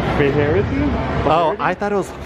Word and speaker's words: Faherty: I walking at first, I thought it was fatherly, but it's Faherty? Oh, I thought it was farty.